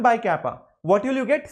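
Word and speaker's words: κ: It's not exactly K, it's slightly different. It's kappa, looks like K, that's all. Pronounced as kappa, this is pronounced as K, that's all.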